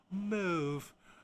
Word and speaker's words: mauve: The British pronunciation is mauve, kind of like move, but the American mauve is sounded to the O in British.